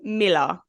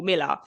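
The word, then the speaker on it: Mueller: by the name Paul Miller and it's spelled m-u-e-l-l-e-r so it's not spelled Miller but it was pronounced Miller um and there's actually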